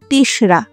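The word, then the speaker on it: ৩রা: আর তিনরাও নয়, ওটা বাংলায় লেখা হয় তিনরা করে, কিন্তু উচ্চারণ হবে তেসরা, অর্থাৎ ৩ তারিখ, আষাঢ়ের ৩ তারিখ।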